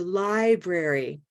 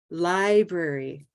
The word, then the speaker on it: library: Library, library. White tie, library. How often?